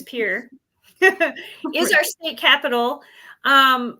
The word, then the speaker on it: Pierre: from around here Pier spelled like Pierre but pronounced correctly as Pier is our state capital